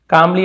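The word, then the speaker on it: calmly: कामली यानी होता है शांति से जवाब दिया। तो एल साइलेंट है यहां पर भी।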